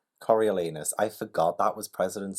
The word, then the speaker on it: Coriolanus: firing angle okay guys the first word is Coriolanus I've said it wrong Coriolanus Coriolanus I forgot that was President Snow's name but